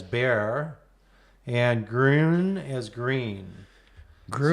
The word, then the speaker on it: Bexar: You pronounce manor as manor, manor as manor, Bexar as bear, and groon as green.